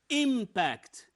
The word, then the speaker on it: impact: the word okay here the word impact impact the stress here on the first part so this is a